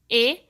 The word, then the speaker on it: ae: O substantivo que estiver no nominativo terá sua terminação em a, quando estiver no singular, e em ae, que se pronuncia e, quando estiver no plural.